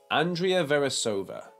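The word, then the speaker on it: Veresová: the correct pronunciation for this word is Andrea verasova Andrea verasova and Dree uh Fair re so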